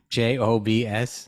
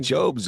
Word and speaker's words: Jobs: they're all laughing at me it's not jokes j o BS oh they're all laughing at me I've been call him jobes all these years I think everybody knows who